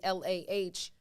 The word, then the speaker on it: lagom: Lagom, but it's pronounced phonetically Lahgum.